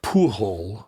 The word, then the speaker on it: Pujol: Well, no, if he's French, it would be Pujol. Pujol? Yeah, right? Pujol? I think Pujol. Pujol. Yeah. So luckily he's not Spanish. Yeah, right, okay. You're right. The J wouldn't be a H in French.